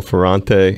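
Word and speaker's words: Ferrante: Yellowjackets keyboardist Russell Ferante. Am I pronouncing your last name right?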